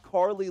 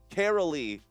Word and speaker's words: Carolee: We got Carly Logan saying hello. Hello, Carly. Good to have you in here. Carolee Logan. Excuse me for getting your name wrong.